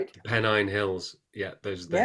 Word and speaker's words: Pennine: Yorkshire in in Pennine? Am I pronouncing that right? Yeah, Pennine Hills.